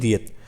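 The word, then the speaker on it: دیت: दियत की स्पेलिंग उर्दू में दाल ये ते दाल ये ते इसे बोलते हैं दियत।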